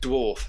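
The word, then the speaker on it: Dvarw: In the 16mm Dwar on top of the MVP5. I never knew how you pronounce that, actually. How do you pronounce that? Like dwarf. It's dwarf. It's not spelt dwarf.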